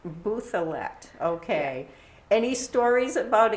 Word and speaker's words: Bouthillette: So we've always pronounced it the anglicized way as Bouthillette. Bouthillette, okay.